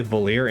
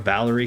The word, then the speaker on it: Valir: Granted, I then blatantly ignored the correct way to say Valir in favor of Valerie because to me it just felt more fitting.